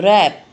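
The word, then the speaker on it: wrap: W R A P, रैप, रैप बोलते हैं, रैप नहीं बोलते, तो W है वो साइलेंट है।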